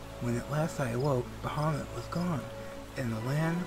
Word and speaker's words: Bahamut: emerged Elder Primal bahamama that's another one I have pronunciation errors on bahamama or Bahamut uh think it's the latter one that is the correct pronunciation but everyone tends to